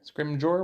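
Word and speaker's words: Scrimgeour: Jour scrim Gore scrim I think it's a soft G scrim scrim Jour we're gonna go with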